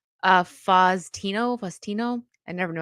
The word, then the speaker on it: Faustino: How do you pronounce his name? Faustino.